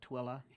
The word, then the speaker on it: Tooele: And if you've already learned Hurricane, and I know Tooele County, you've already learned it's not Tule, but Tooele.